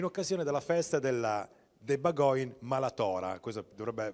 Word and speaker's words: bagòn: Allora, questa festa, mi può dare la pronuncia giusta? Festa de Bagoin.